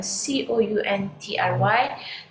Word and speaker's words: country: is count okay count however c-o-u-n-t-r-y does not come from the root word count okay it is a word on its own so c-o-u-n-y is pronounced as country country right because